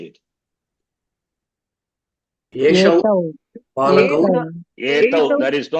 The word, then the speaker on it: एतौ: येषौ बालकौ Etau. There is no Yeshau.